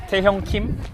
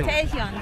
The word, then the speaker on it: Taehyung Kim: My name is a little bit hard to pronounce, so Taehyung Kim. But just yeah. Oh, you're great. Taehyung Kim. Yeah. Taehyung.